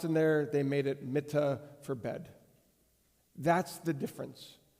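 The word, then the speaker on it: מִטָּה: So, when you look at how this is written, the Hebrew word for bed is mittah, Mittah. The word for staff is mattah, Mattah. It's a simple pronunciation difference.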